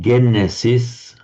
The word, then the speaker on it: Genesis: In Greek, genesis, which we pronounce in English as Genesis.